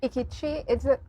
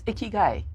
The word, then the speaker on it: ikigai: Ikichi? Am I saying it right? It's Ikigai.